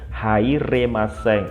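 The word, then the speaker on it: 入れません: di luar waktu ini, hairemasen ini bentuk kemampuan. Hairemasen ya, ini bacanya hairemasen, tidak bisa masuk gitu ya, tidak bisa masuk.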